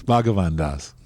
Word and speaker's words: Bhagavan Das: Is that how you pronounce it? Yes, Bhagavan Das.